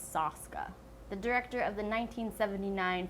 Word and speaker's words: Soska: Jen and Sylvia SOSKA, not SOSKA, which I was pronouncing it like that for the longest time, but it's SOSKA.